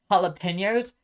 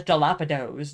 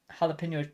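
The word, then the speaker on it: jalapeños: Like I I dude I used to pronounce jalapenos as dilapidos, dude.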